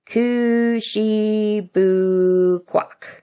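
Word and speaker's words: Kouchibouguac: Harley learned to pronounce the name slowly. Kushibukwak.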